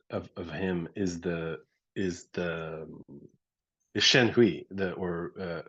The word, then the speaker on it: Shenhui: impression of it of him is the is Shen Hui, the or how do you pronounce it?